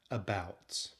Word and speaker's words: about: Think of the word about. It has two syllables. The first syllable, which is the letter A, is the schwa.